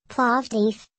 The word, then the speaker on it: Plovdiv: plovdife Bulgarian pronounced is the second largest